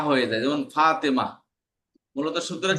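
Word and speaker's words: فاطمة: হা হয়ে যায়, যেমন ফাতেমা। মূলত শব্দটা কি? ফাতিমাতু, ফাতিমাতু, ফাতিমা। বুঝতে পারছেন? ফাতিমাতু শেষে তা আছে, কিন্তু তারা উচ্চারণ হয় না, হা হয়ে যায়।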